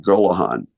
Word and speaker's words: Gollehon: the announcer comes up how do you say that name again I said Mt Gahan he said okay then